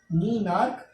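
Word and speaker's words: menarche: Pronunciation दोबारा ध्यान से सुनिए, मीनाक एंड मीनोपॉज।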